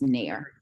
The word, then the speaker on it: Nair: we go you and sorry for this mispronouncing that so it's nair okay i will turn